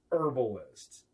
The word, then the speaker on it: herbalist: Yes, this is pronounced herbalist.